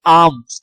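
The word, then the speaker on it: alms: अब यहाँ पे देखो ये क्या कह रहा है कि ही गिव मी आर्म्स। अच्छा, इसको आर्म ही पढ़ते हैं, एल इसमें साइलेंट होता है।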